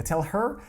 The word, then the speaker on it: tell her: Tell her, то есть вот эта вот буква H, она не произносится. Tell her, tell them, tell him.